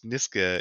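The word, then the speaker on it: Nisga'a: niska nation uh and niska is spelled n-i-s-g-a apostrophe a and the book's title is n-i-s-h-g-a um with a pronunciation uh nishka and and the one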